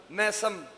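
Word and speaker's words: میثم: moderate हो गया जमाना मैसम तो मैसम गलत प्रोनंसिएशन है इसकी इस्लाह करें मीसम मीम कसरा के साथ जेर के साथ मीसम एक है मीसम एक है मुख्तार मीसम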